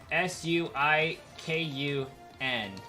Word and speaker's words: Suicune: I wouldn't add the NAY on it. Like Suicune, it is literally Suikun. So like Kun would be a correct ending at that point. But that's only if we pronounce the American spelling of it with the Japanese pronunciation. Because if they wanted it to be Suicune, they would have used NE instead of just the symbol for N.